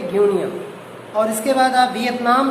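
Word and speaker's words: Guinea: और जो अफ्रीका में आपका बेल्ट है ग्यूनिया, इसका प्रोनाउंसिएशन करेंगे ग्यूनिया।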